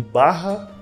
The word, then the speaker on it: Baja: Tem um outro que se escreve Baja, mas eles falam dentro do jogo como Barra.